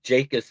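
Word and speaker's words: Jacas: So far, it looks like the top combine guy for the bench press is Gabe Jacus on the defensive line. No surprise to me. Gabe Akus is how it's pronounced.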